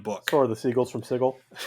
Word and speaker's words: Sigil: edition planescape books that it is pronounced sigel and not sigil it still kills me a little bit inside every time i say it same here but planescape appropriate the city's name is sigel and if you are